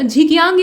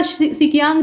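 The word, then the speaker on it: Xinjiang: और झिकियांग या सिकियांग जो चीन का प्रांत है, असल में इसकी स्पेलिंग जो है वो एक्स से स्टार्ट होती है, तो प्रोनाउंसिएशन में थोड़ा सा डिफरेंस, तो उसके साथ ये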